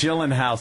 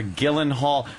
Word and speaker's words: Gyllenhaal: give us suggestions yes gyllen house gyen hall or or Gillan Hall I've heard uh two ways it could be pronounced so what is it uh I've heard Jake Gyllenhaal I think that's pretty accurate oh I was yeah